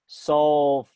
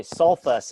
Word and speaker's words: sulfurous: So this is actually sulfurous. I don't say sulfus acid. That would just be, so I mean, normally that's what you do. You remove the ite and you add us, but sulfur, you get 2 syllables.